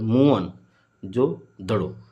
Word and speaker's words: मोहनजोदड़ो: मोहनजोदड़ो की शब्द का सही उच्चारण मुअन जो दड़ो।